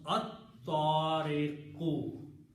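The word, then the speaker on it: الطارق: And in the pronunciation, ta will kill the sound of lam, so you will pronounce at-tariqu.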